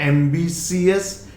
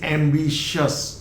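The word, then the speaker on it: ambitious: सो इट इज नॉट एम्बिशियस, इट इज एम्बिशियस, शस। So this I is dropped and इट is always pronounced as शस।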